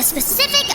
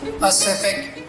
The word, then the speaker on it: Pacific: with your juvenile game snoozer is exploring the specific ocean inaccurate it is pronounced pacific ocean p a c i am incapable